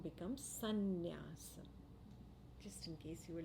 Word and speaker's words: sannyasa: In Sanskrit, when sum joins nyasa, the M assimilates into the following N. And the sound becomes sannyasa.